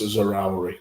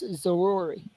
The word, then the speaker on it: Zaroury: come off for Anas Zaroury for Burnley. I believe you just made every single Burnley fan mad with your pronunciation there. I believe that's Zaroury.